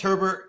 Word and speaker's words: Herbert: know it's his name pronounced herbert like it is herbert not a not like bobby bear okay so justin herbert